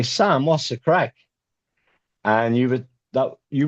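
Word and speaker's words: craic: We spell it C R A I C. And crack in Ireland does not mean what it means out here.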